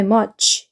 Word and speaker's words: much: 그다음에 두 번째 거 똑같죠 읽어 주시고요 그다음에 much CH TS 길게 적혀 있는이 발음 기온은라고 읽어 주셔야 되고요 그냥 치가 아니고요